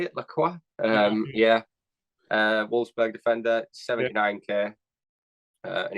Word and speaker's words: Lacroix: Lacroix.